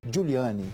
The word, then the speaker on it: Giuliani: então prefeito na ocasião rudolph giuliani juliane que era assim se pronunciado tolerância zero tolerância zero